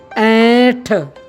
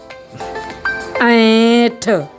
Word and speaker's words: ऐंठ: ऐंठ। जैसा कि आप उच्चारण कर पा रहे होंगे, ऐंठ को उच्चारण करने के लिए हमें नाक का इस्तेमाल करना पड़ रहा है।